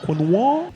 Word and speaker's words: quinoa: The word quinoa comes from an indigenous language from South America.